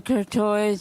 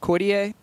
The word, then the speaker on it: Courtois: My name is Courtois. the Courtois. Yeah. Do you like that name? Yeah. Can we keep that going? Yeah. Your nickname? Courtois. Oh, yeah? It's not pronounced Cordier? Courtois.